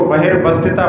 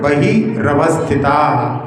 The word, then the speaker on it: बहवस्थिता: रहा है बहवस्थिता हां कई लोग इसको बहिर बस्तिता पढ़ते हैं। ऐसा नहीं इसका सूत्र का जो उच्चारण बहवस्थिता हां इसमें जो है